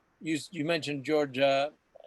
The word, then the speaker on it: Takei: You said you mentioned George Takei as he may be gay. That's how you remember it rhymes.